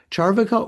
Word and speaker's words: Charvaka: should we say that there's a long a in the second a so is that more charvaka or charvaka paul I I think it's it's long but not but still evenly stressed.